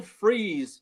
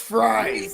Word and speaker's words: Fries: The Vikings this morning signed former Colts guard Will Freeze to a 5-year $88 million deal. It's pronounced fries. Fries. Fries for chicken fries.